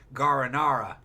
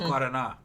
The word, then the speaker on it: Guaraná: People mispronounce it as Guaranara. No, it's Guaraná.